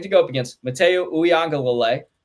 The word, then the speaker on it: Uiagalelei: that they have to go up against Mateo Uiagalelei. Uiagalelei, you got it there.